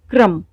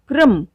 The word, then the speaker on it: क्रम: दूसरी बात, जिस व्यंजन के पैरों में पदेन र लगा हुआ होता है, इसका उच्चारण उस व्यंजन से बाद में होता है। जैसे देखते हैं कुछ उदाहरण। क्रम, आप यहाँ देख रहे हैं कि मैंने बोला क्रम, क के पैरों में र लगा हुआ है, र का उच्चारण क के बाद में है।